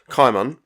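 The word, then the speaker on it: Cimon: to write their propaganda kaiman i'm going to go with the hard c pronunciation it is debated was a hero of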